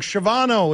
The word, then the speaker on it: Shavano: Shavano, I think is how you pronounce it. Ah, there it is. I'm sorry. I got it wrong. Shavano is his name.